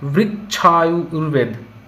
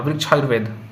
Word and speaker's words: वृक्षायुर्वेद: वृक्ष आयुर्वेदा ना, हाँ वृक्ष आयुर्वेद, वृक्षायुर्वेद, हाँ वृक्षायुर्वेद, this is the right pronunciation, वृक्षायुर्वेद, है ना।